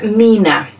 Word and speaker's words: 3INA: If you've never seen this before, it's pronounced Mina.